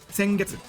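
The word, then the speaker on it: 先月: Now you'll notice a pattern. Sengetsu. Sengetsu is last month. They both start with sen. Now, some of you remember how to say the months, right? Remember it's Ichigatsu, Nigatsu, Sangatsu, but now all of a sudden, we're using Getsu to say month.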